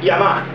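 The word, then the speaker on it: 山: A leitura chinesa para ele é San, que é uma aproximação da pronúncia desse kanji na China. A leitura japonesa vem do significado desse kanji em japonês. Montanha em japonês é Yama, então a leitura japonesa é Yama.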